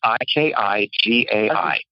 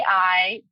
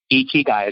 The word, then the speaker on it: Ikigai: But it's a Japanese concept called Ikigai, and it's Ikigai. And I don't know if you've ever seen Ikijei. It's Ikigai. And it's a Japanese term. Ikigai is how you say it.